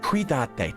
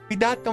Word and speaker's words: Cuídate: Cuídate, dang it. I never know whether it's a soft C or a hard C. Cuídate mucho.